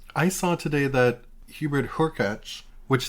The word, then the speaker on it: Hurkacz: I saw today that Hubert Hurkacz, which thank you to the listener who corrected us on the pronunciation. I've been saying Urkacz for a a long time. Oh. And I went and looked up his pronunciation on the ATP website.